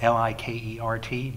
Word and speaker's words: Likert: data and if you think about what a Likert scale is and by the way it's about Li ke RT but it is pronounced Likert even though it that way the